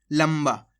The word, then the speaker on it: लंबा: दोस्तों इस शब्द के अंदर आप आधा ना का उच्चारण करोगे ना, आपसे होएगा ही नहीं। आप कोशिश करो, लंबा लंबा होएगा ही नहीं। यहाँ पे आपको आधा माँ का उच्चारण नहीं होगा। देखो, लंबा। आम अनुस्वार की मात्रा अन,